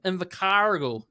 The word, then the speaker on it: Invercargill: and I believe you're all the way from Invercargill.